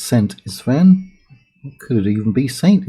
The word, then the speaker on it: Szent István: Now the year is 1072, and it is 71 years since Szent István. I think the Z is silent for English speakers, so I'm going to say it's Szent István.